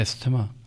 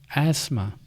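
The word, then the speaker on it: asthma: अस्थमा। अब बताइए इसमें टी एच साइलेंट है। सही तलफुज़ है एसमा।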